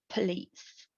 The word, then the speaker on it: police: is the rule and an exception for it for it could be the word police tara please please it's accented on the second syllable then the word changes